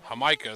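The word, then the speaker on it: jamaica: hamika so yeah yeah hamika is how you pronounce it i know what the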